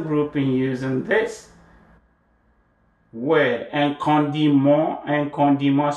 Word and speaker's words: condiment: using this word, and condiment spelled the same way as in English, right? But pronounce condiment, mon. You know the M-N-M-E-N-T is mon, mon. Con, nasalize it, D, and then mon, nasal vowel.